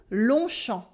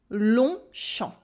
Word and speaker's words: Longchamp: tu gagnes tu formes nan we keep des prononciations repeat after me longchamp longchamp ou anheim longchamp et is the same thing